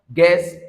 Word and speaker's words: guest: It means the U there. All right, appears irrelevant because both the U and the E, they are taking together as one sound which is E.